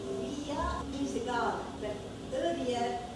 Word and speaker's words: Vija: (mellow ambient music) My name Vija, means a garland. But earlier, Vija was really used in the garland of victory. The garland of (mumbles) And in Indian, it is pronounced Veeja, or Vijay.